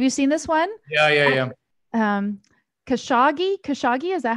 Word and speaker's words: Khashoggi: Khashoggi, is that how you pronounce his name?